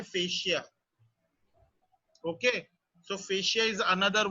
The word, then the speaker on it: fascia: और correct pronunciation उसका है fascia.